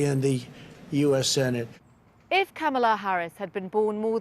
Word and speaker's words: Kamala: a politician of substance pamela it's not kamala it's not camella but she still had to teach the country how to say her name i'm kamala harris and she was